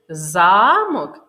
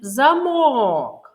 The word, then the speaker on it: замок: умові з двох слів замок і замок який голосний звук вимовляється голосніше у першому слові замок звук а а у другому слові звук о склад що вимовляється голосні